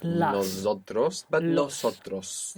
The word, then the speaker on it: nosotros: I have Nosotros- finished it.